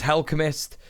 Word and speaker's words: Helchemist: I think it's supposed to be pronounced like Alchemist, but it's Helchemist.